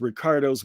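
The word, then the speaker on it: Riccardo: r do o uh and that's Rick not rice not Rico not Ricky okay uh but you can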